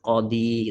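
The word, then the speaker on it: قاضي: Seharusnya ada tanda dammah di sini, tetapi tidak terlihat; 'ya' adalah sukun, 'qadi', seperti itu. Dan kita tidak diperbolehkan membacanya sebagai ' qadiu'. Haruslah 'qadi'.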